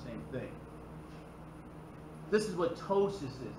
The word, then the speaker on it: ptosis: This is what ptosis is. It's spelled like this, with P is silent.